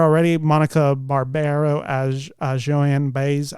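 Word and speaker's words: Baez: Monica Barbaro as Joanne baz I believe that's how he pronounced baz's last name Boyd Holbrook is Johnny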